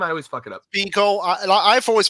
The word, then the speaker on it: Spiegel: Spiegel. I've always pronounced it as Spike Spiegel. Someone told me, no, it's not how pronounced the P sound.